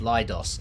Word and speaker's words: Leidos: gonna pronounce this correctly lidos lidos like colloidus like kaleidoscope lidos um so you were